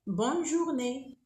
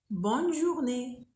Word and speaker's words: bonne journée: Et il y a aussi d'autres manières comme bonne journée. Bonne journée. Ici, on prononce le N. Pourquoi? Parce qu'il y a deux N.